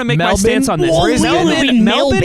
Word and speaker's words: Melbourne: make my on this melin is how people say it with an Australian accent melburn Mel Bur matx is like how an American would say it and then the